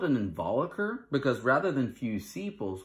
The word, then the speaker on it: involucre: I think some people will say like involucile or involucra, but it's involucre and involucile, okay?